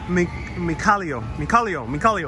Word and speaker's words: Mikhailo: Hey, Victoria says it's pronounced, the person watching from the Ukraine, Mikhailo. Okay, cool. Mikhailo.